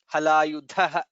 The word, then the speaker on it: हलायुधः: Vanamali Halayudha, Dha is Mahaprana.